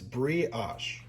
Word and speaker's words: brioche: here, you have your brioche bread. And I had to look that up to see how to say it. I always say it wrong. It's brioche. Brioche.